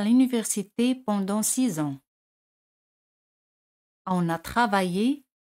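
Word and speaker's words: six ans: 6 ans. 6 ans. X se pronuncia Z. 6 ans.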